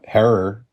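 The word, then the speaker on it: Herer: smell of Jack uh error rhymes with Terror or train wreck right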